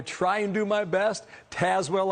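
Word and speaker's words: Tazewell: and do my best tazwell i know now it's not tay as well it's taz well and this is not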